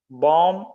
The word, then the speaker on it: bomb: something worth noting yes the letter B is silent we should say to look at some other words of this type com wom bomb lamb comb is comb is